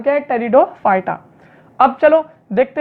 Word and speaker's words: Pteridophyta: है थैलोफाइटा ब्रायोफाइटा टेरिडोफाइटा यहां पर यह पीस साइलेंट फ्रीडम फाइटर नाम टेरिडोफाइटा अब चलो देखते हैं